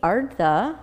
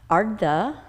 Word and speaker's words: Ardha: Ardha, which means half. Ardha, again, which means half.